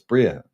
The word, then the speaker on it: Bria: It's Bria. It's not Briar. I used to call it Briar, but now Bria is the name.